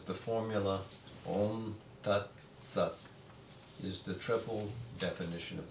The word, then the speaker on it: om: in India saying that when you pronounce the word om it is not an OM like that but you have to have that sense of drone it's never truly an M it's oh M never really sounds but that fourth